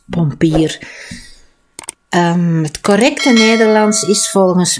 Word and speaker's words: pompier: De pompier, van het Frans, en in het Frans wordt pompier uitgesproken, maar dat is algemeen Vlaams, pompier.